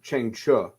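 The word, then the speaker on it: Chang Cheh: Chiang Che's name is pronounced Cheng Chu, which I did not know that.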